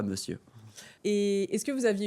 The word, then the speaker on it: monsieur: Ouais et et je disais monciur pendant une décennie. Monur, monur, pas monsieur.